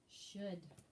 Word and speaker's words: should: ends with a d should should s-h-o-u-l-d should and again circle the l just like you did for the word would should and would right